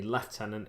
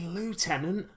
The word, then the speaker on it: lieutenant: there at the front, or the lieutenant if you are stupid and pronounce it the British way, which it should never be pronounced in my opinion, because it's clearly lieutenant, because it's someone in lieu of a more senior officer.